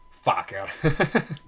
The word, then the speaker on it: FKR: nasce in questo momento l'acronimo fkr e si pronuncia esattamente come pensate Faaker quindi forza diventiamo gruppo